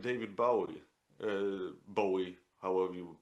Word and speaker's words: Bowie: Bowie, however you pronounce it. Bowie is the proper pronunciation.